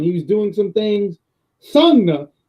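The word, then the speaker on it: Sanga: Then there's Sagna. I'm pronouncing the name all wrong. Sangha. There we go. Because he's Sangha.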